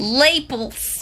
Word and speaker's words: lapel: the fuck you pronounce that word? Lapels.